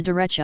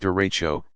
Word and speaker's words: derecho: are less common you what is a derecha you pronounced derecho this is large long-lived